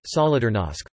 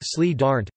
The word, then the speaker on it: Solidarność: The History of Solidarity, Polish, Solidarnosc, pronounced Sli Darnt, Listen, a Polish non-governmental trade union, began on